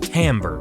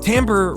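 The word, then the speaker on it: timbre: it gets under my skin to see people pronouncing it wrong it's called tamber tamber refers to a sound's unique quality or characteristics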